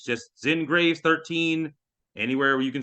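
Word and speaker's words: Xin Graves: So, uh, my name is Zen Graves. Uh, that's pronounced X I N Graves like the cemetery and what what I am.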